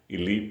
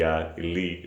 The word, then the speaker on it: elite: to obtain the free elite port. As someone had corrected me in another video, should be elite, or as I used to pronounce it, elite, should be pronounced with E and sound like meat.